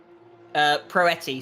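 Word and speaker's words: Proietti: Do I say the O? Proetti, so you ignore the I.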